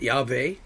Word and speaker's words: Yahweh: I pronounce it Yahweh.